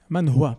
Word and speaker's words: manhwa: Ok, donc il y a du coup le H qui est prononcé.